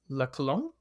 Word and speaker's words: La Colombe: And that is Hamdi Ulukaya, who you may know as the founder and CEO of Chobani and also the owner of La Colombe.